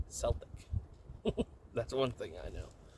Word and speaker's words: Celtic: You don't say Celtic, you say Celtic.